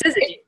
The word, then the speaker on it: Syzygy: So, and your company, your business name, Syzygy. Yes, Syzygy.